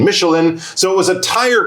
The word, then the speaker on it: Michelin: I think the French would say Michelin, but we're going to go with the English pronunciation Michelin.